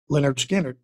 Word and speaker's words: Lynyrd Skynyrd: And that's Lynyrd Skynyrd, pronounced Lynyrd Skynyrd.